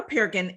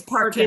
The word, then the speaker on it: Parkin: get started so perkin is a and did i say your last name right it's parker but that's okay that it's all